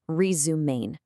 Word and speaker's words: Resumaine: And just a quick note, that's pronounced Resumain.